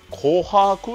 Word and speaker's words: 琥珀: たのではいこれ読み方わかりますか紅白って言います琥珀色とか